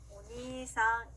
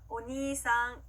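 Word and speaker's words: お兄さん: 자, 오빠, 형이라는 단어는요, 오니이상이 아니라 오니상, 이렇게 니를 길게 늘려주시면 됩니다. 자, 발음 연습 같이 해볼게요. 오니상, 오니상.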